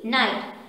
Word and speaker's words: knight: sound of age but no sound of g ni ghd knight our other word is